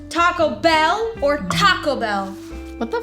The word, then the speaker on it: Taco Bell: And also, you don't need to emphasize bell because there's literally a bell sound in the commercial after they say Taco Bell. So Taco Bell, not Taco Bell.